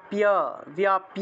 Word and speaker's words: ব্যাপ্য: এতৎ ব্যাপ্য উচ্চারণ হবে। বয়ের সাথে জফলা আকার আছে তাহলে ব্যাপ্য স্থিতা জগৎ।